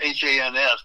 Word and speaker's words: Hans: Well, this is one written by my friend in Phoenix, Hans Olsen. It's H-A-N-S, but it rhymes with chance.